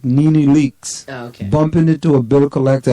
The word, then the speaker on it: NeNe Leakes: West said about Melissa, my neck snapped like Nina Leakes. Who's Nina Leakes? I don't know who that is. Keep on it. Bumping into Nina Leakes. Spell that. Nene Leakes.